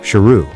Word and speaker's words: Saroo: Later Saroo discovers that he's been mispronouncing his own name all those years It's actually pronounced "Sheru" which means "Lion".